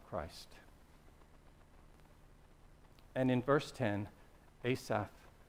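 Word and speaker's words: Asaph: and in verse 10 Asaf I always want to say St assf I'm pretty sure it's Asaf okay Peter I'll check with you how do you pronounce his name Asaf the psalmist how would you say it Asa Assaf okay now any what no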